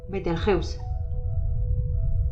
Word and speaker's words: Betelgeuse: Dado el origen de la palabra cabe decir que la pronunciación más correcta de este nombre se realiza cuando se utiliza el idioma castellano: Betelgeuse.